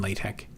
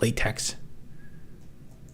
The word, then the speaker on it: LaTeX: did their homework in latte and it's it has quite a learning curve latte and people always tell me I mispronounce it. I call it I call it latex, but I guess it's lat.